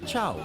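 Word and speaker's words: ciao: Oh, and it's not C-R-O, it's pronounced Chow.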